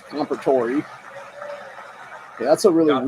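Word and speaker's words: Comperatore: who gave his life That's how you to pronounce that protect guy's his name. family. So it's Compertori.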